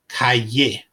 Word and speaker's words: calle: slide for more information the Double L is pronounced like the English y calle m ma the M